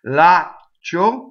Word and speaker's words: laccio: Laccio rhymes with sfaccio, with a nice long ah before you stop phonation, go up to the ch, and don't say it.